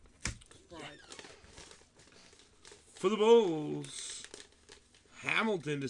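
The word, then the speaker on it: Faried: That's how you say his name. Farid.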